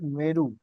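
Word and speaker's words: Mweru: एक लेक है लेक मेरू। उसकी स्पेलिंग नोट कर लीजिए।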